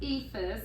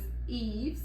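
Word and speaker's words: EIFS: a lot of homes it's not necessarily pronounced EAS that's I was laughing about Southern version but e e I thought for the longest time it was EAS thank you Jim Ellis that's funny yeah so I learned today that that's not the proper pronunciation but EES and stucco but e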